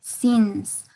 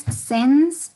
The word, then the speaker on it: since: For both of you, para los dos, remember the pronunciation of the word since. Si no es sense or science, sino since. Es una I, se escucha la I clarita, ¿no? Since.